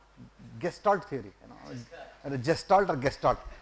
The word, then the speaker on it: Gestalt: Gestalt or Gestalt. For me, G is pronounced as G.